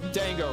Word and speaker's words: dango: Dango. Cuz it rhymes with mango.